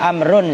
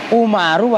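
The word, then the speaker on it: عمرو: Jadi kan gini nih, perhatikan nih, kalau ada wawunya bacanya amrun atau amrin. Kalau nggak ada wawunya umar, gitu loh.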